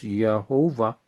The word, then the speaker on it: Thiaoouba: So it's spelled THIAOOUBA, which is pronounced Jehovah. You know, just like Jehovah, right?